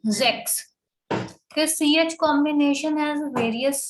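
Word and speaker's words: sechs: sex six is called sex s is having z sound okay and this s is having s sound so we say sex okay ch combination has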